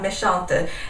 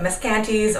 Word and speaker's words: Meschantes: my training in French, I believe that the pronunciation of the company is called Meschantes instead of Meschantes or any other very interesting and creative variations thereof.